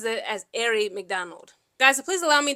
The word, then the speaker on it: Aari McDonald: I want to so badly pronounce her name as Aari McDonald, like, Aari short for Ariana. But I believe she said herself that she pronounces it as Aari McDonald.